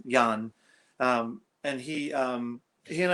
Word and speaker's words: Jan: the beginning and um it's the dutch pronunciation of john he's young and he um he